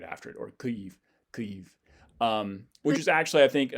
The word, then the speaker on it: Kyiv: So this one is further back in the mouth, Kyiv.